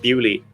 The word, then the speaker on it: Beaulieu: Yeah, in 1954, Lord Montague of Lord Montague of Beaulieu, but I think in aristocratic English they pronounce that Bewley. I think. So I'm going to say Lord Montague of Bewley, even though the word is Beaulieu.